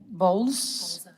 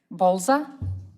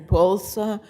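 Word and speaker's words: Bolza: I think BSA Bza. Yes, I'm Pulsa. My last name is spelled B as in Bravo, O L.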